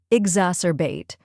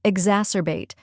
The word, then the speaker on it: exacerbate: the in her finally we have bait which rhymes with late now let's put it all together exacerbate try repeating after me exacerbate now a little faster exacerbate and at full speed exacerbate keep practicing and